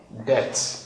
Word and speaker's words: debt: The spelling B is silent. Is silent when it comes before letter T. I hope you can get that. When it comes before letter T. Now, what are the examples? Look at this. Debt, not debt.